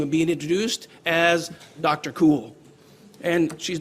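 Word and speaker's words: Kuhl: Cool. And she's Dr. Cool because her last name is spelled K-U-H-L.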